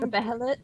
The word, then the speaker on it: Behelit: Behelit.